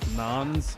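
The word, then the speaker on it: naans: He said it was a new racially disparaging term for Indians, and they're called nons, but it's spelled N-A-A-N-S, like non-bread.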